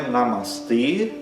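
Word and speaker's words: namaste: Ele é um e fechado porque sempre o e em sânscrito é fechado. Então é namastê e esse e é longo, né? Os dois a são curtos. Namastê, né?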